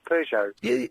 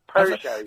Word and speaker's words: Peugeot: Sorry, how do you say it? Peugeot. Yes. Peugeot. How do you say it? I say Peugeot. I'm going to say Peugeot from now on, though.